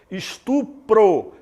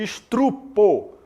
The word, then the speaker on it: estupro: Estupro em vez de estrupo.